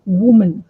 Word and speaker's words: woman: males, then female, females, woman, women, because the pronunciation is also different. If it is one woman, it's woman, woman.